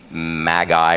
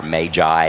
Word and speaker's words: Magi: in some English translations it'll say maguy or Magi however you want to pronounce it and it's kind of